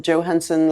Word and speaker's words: Johansson: Johansson, and then Johansson like Scarlett Johansson.